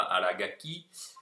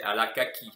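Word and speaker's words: Arakaki: trop dans le détail mais à okinawa ce nom se prononce al akaki après si on veut faire comme les japonais en prononce à la ga qui s'est pas une faute non plus de recenser les mêmes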